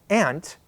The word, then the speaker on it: aunt: mother's sister, my aunt, I pronounce it exactly like I pronounce the insect, the ant. And that's a lot of people in the United States pronounce it this way. But some people pronounce the same word aunt. They just pronounce it differently.